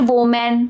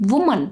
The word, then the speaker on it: woman: And similarly, woman, woman, not woman, woman.